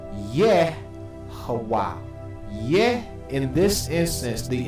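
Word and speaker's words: יהוה: Let's go through why this is Yehovah.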